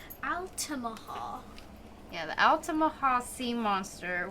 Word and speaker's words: Altamaha: and at first I didn't know how to pronounce this one but now I sort of know it it's Altima Hall yeah the altamaha sea monster which I guess